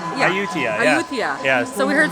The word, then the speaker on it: Ayutthaya: So we learned the proper way to say where we're going. It's not Ayutthaya, it's Ayutthaya. Ayutthaya.